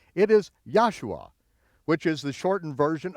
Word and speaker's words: Joshua: version of the Bible pronounce it as a y and you'll be very close there are many many